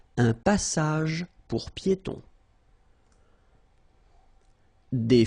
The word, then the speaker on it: piétons: Final S here not pronounced and then final E not pronounced. Un passage pour piétons.